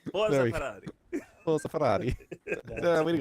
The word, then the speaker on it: Ferrari: You want to dude you have to say it like with an Italian accent. Pull a Ferrari. Pull a Ferrari. There it is. There it is. A Ferrari. Ferrari.